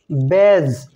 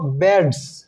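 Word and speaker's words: badge: কাঁচি silent letter D ডি লেটারের পরে জি থাকলে ওই ডি লেটারটি সাইলেন্ট থাকে যেমন ব্যাজ এখানে ডি এর পরে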